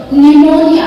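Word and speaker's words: pneumonia: बोलने में अजीब लगता है, इसलिए पी को साइलेंट कर दिया था। Psychology, निमोनिया, this is निमोनिया, okay, निमोनिया, etcetera.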